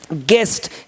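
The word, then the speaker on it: guest: होगा यानी अपने स्पेलिंग को भी सुधार करें स्पेलिंग सुधार करें और शैलेंद्र बॉडी ठीक है दोनों कम साथ होगा गेस्ट जी यू ए एस टी देख रहे हो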